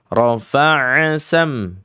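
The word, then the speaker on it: رفع سمكها: Ada fnya didobelin dengan cara bertasydid. Padahal di situ gak ada tasydid. Rofaasam. Rofaasam. Ya, samar ya. Tapi ini salah. Bahkan sampai pada tahap jali. Kenapa? Penambahan huruf f-nya dobel rafaa. Ya, padahal di situ fanya cuman satu.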